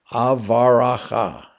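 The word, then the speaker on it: אברכה: In the middle of verse 1, beginning of verse 2 in the Christian Bible, is the Hebrew word Avaracha, 4 syllables, meaning I will bless.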